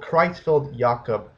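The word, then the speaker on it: Creutzfeldt-Jakob: n disease which is a little hard to pronounce it's called chfi yakob disease disease and it's a brain disorder that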